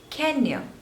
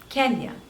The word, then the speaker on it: Kenya: Kazakhstan Kazakhstan next is Kenya Kenya so there are two syllables and stress is on the first one can you Kenya Kenya Kenya next is Kuwait Kuwait